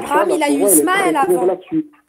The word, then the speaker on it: Ismaël: je sui ismaélites 1 c'est pas israël c'est ismaël tu vas pas s'embrouiller pour ça tu arrives à dire israël tu prononces hisse donc ceis tu vois c'est ismaël mais bon c'est pas